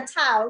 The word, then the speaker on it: Tao: first one to pronounce correct. Everybody call me Tao. You know, it's like the Tao.